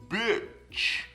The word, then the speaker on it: bitch: E com o chapéuzinho em cima. E, bitch, bitch. E você tá vendo que não tem sorriso. Você não pode falar bitch, tá vendo? Nem fisicamente a gente consegue falar. Então é bitch, a boca cai, né?